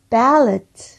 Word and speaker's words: ballot: 자, 두 번째는 발렛. 이거는 여기가 묵음이 아니라 그냥 럿 하면서 플럼 발음 하셔야 돼요.